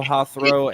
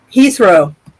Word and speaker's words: Heathrow: wrong over in England uh her her throw hathrow airport Heathrow Heathrow thank you Heathrow Airport uh there was